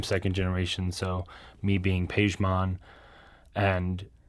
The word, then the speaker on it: Pajmon: So me being Pajmon, and how the name even growing up has kind of transformed into being pronounced the way it is. It's weird because like my parents, it's Pajmon, right? Pajmon, okay. And it's spelled different in Farsi too.